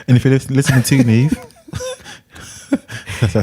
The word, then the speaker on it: Neve: You pronounce the name right. It's Nev Campbell. Oh, a lot of people say Neve.